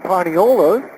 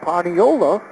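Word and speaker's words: paniolo: were on the island the Hawaiians couldn't pronounce the first word they were taught espanol there's no es pronunciation they kept saying paniola the name duck Dwayne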